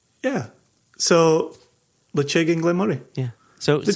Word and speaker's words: Ledaig: Lechig, or lechig, some people say lechig. What it isn't, what it clearly is not, it's not Ledaig.